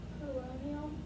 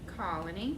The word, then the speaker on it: colony: Exchanges on the colonial Colony, not colonial. We don't see IAL at the end.